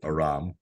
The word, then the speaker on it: Aram: So I guess ethnically, if we're talking about like being Armenian and being named Aram, like I pronounce it Aram, and that's kind of how I have everybody else pronounce it.